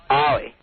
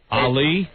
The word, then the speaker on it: Ollie: Ollie. Ali? Ollie. Well, I thought you were a chick. Thanks. When I see A-L-I, I'm saying that's a girl. Well, it's pronounced O-L-I-E.